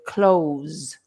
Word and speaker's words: clothes: people do is they ignore the th and they just say the Z so they say close like to close the door and it sounds exactly